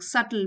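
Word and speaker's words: subtle: Another सल teaching सटल B silent है।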